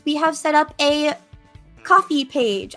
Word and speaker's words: Ko-fi: And another way to support our stream is we have set up a coffee page. I always want to call it Ko-Fi, but it is pronounced coffee.